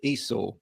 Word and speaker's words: Esau: So it's Esau. There's an or on the end. It's not E, U, or R, or any of those things.